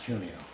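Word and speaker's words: Cuneo: your last name c NE EO thank you pronounce cunio thank okay uh next we have this will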